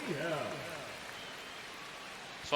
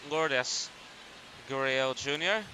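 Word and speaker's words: Lourdes Gurriel Jr.: Lord. So I mispronounced his name earlier as Lords. It is Lordis Guriel Jr.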